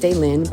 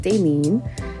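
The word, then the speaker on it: Dailyn: is ding and phonetically it's pronounced Dalin it's spelled D A I L YN so you think it's pronounced Dalin but it's actually pronounced denen and my mom when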